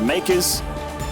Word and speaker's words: MKERS: It is Makers ShoWTimE. That's right, guys, MKERS. The team is pronounced Makers.